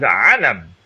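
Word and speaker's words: عَلَم: And the word ayn, lam, mim can be pronounced in 2 different ways. It can be pronounced as ilm, which is knowledge, but it can also be pronounced as alam, which is a sign.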